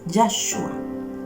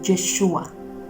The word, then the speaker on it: Yeshua: mencionar su nombre es Yeshua, pero si le quieres hablar con cariño es Yeshua.